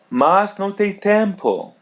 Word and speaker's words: tempo: tempo tempo tempo tempo letter m is pronounced as a Right. N tempo.